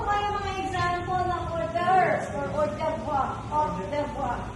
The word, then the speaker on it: hors d'oeuvre: So sa French po, pinopronounce as hors d'oeuvre. Di ba naman yung French parang may halak lagi? Paano lang sasabihin niya siya? Hors d'oeuvre. So sa English, pinopronounce na siya as hors d'oeuvres.